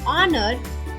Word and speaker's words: honor: Note: an is used before h when it is silent, as in art and honor, a before u, and eu when they sound like u, as in European and university.